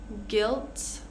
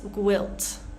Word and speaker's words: guilt: Guilt. Guitar. Tongue. So we want to avoid making like a guilt, gwilt, right? Or guitar, guitar. No, so we're going to